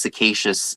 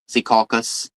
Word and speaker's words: Secaucus: I think I heard it pronounced Secacious on like a news media. Oh, I had it right the first time. Secaucus.